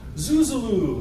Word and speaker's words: Zuzolo: But actually, the pronunciation of my last name is fairly simple when you divide it into two words, all long vowels, Zuz and Olo, Zuzolo.